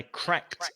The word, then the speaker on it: cracked: I cracked up. So it's the t sound when it's ed.